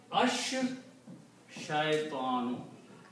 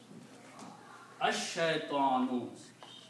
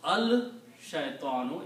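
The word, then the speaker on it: الشيطان: So instead of pronouncing lam, you pronounce sheen two times, and it becomes ash shaytanu. Ash shaytanu. Right? You don't pronounce al shaytanu, even though the word is al. But lam becomes silent.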